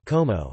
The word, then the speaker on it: como: The close allophone is phonetically close mid o and appears in open syllables, e.g. in the word como, como, how.